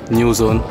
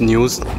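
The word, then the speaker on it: Nuzn: By the way guys, this is my new rubber, new zone. I'm telling this now because I just find out that it was not pronounced news, but new zone.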